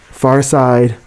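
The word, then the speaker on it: Pharcyde: Farside, Spelled like Far Side. like FARCYDE.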